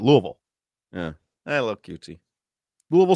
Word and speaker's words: Louisville: That's what that's how you say it. Louisville.